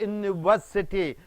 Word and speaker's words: university: umbrella that is a university even though it starts with the U the pronunciation with Y University that is a university